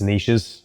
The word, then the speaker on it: niches: And then there's obviously the saying, I'm going to pronounce it in an American way because it sounds better. There's riches in the niches. It's niches, Americans, but anyway, we get the point.